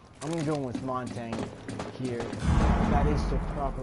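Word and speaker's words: Montagne: I'm going to go with Montang here.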